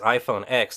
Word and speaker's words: iPhone X: Now, although the new iPhone is written down on paper as iPhone X, it's pronounced iPhone X.